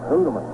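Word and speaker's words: Houtteman: Of course, the strangest case of pronunciations is that of Art Houdeman. His father called it Hoodeman. He'd say, "Hello, Mr. Hoodeman. How's your son, Art Houdeman?"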